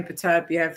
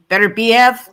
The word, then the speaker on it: Beterbiev: I don't know what the pronunciation for his. I probably said that one wrong. I hate how you lot say Beterbiev.